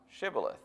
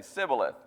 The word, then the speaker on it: Shibboleth: And if he said no, then they would say, "Pronounce Shibboleth." And they couldn't. It's just kind of one of those accent type things. They would always say Sibboleth because they couldn't pronounce it right.